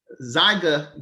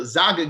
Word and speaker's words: Zynga: His last name is spelled SCHIERMEYER. All right. So, but Eric, he was part of Zyga Games, ZYNGA, Zyga Games.